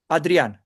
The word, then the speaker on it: Adrian: Adrian. Adrian, yeah, okay, Adrian. quite different, yeah. Adrian. I mean, So, plain, not put the accent anywhere. It's just Adrian. It's quite linear.